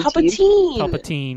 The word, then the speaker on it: Palpatine: It's Palpatine. Palpatine. Palpatine. Jesus. If it was teen, it'd be E-I-N, like Goldstein.